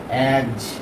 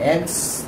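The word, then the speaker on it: eggs: हम एस लगाते हैं तो इसको क्या पढ़ते हैं, एग्ज, एग्ज पढ़ते हैं, एग्स नहीं पढ़ते हैं। तो अगर हम कहते हैं इसको एग्स तो ये उच्चारण हमारा गलत है।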